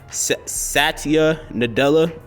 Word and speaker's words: Satya Nadella: name um by accident but I think it's pronounced Satya Nadella tweeted a company blog in which the tech